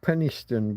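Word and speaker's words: Penistone: So we pronounce it Penniston, but if you look it up online, you can't help noticing the penis in the middle of the word.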